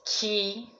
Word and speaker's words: 気: So, and when you pronounce ki, then that is coming from Japanese cultural influence, or the way to use as the relatedness to the energy.